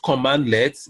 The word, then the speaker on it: cmdlet: is being constructed so it is pronounced commandlets but you spell it as cmdlet cmdlets so let me